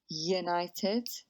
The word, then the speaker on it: united: A united, a one, an hour. A united sounds like a y sound, so we use a.